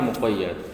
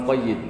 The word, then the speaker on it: muqayyad: Seperti am khas kemarin kan, mutlak ya muqayyad. Jangan mutlak sama muqayyid, kurang pas.